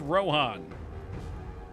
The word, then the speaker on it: Rohan: wait R Rim we've talked about this it's pronounced Rohan when Tom okay Tom bombadil's not in that